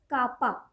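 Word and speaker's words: κ: इसको हम K से denote करते हैं and this K is pronounced as kappa.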